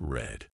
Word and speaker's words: read: to keep things interesting read in the present is pronounced like read but in the past it's red mind blown and why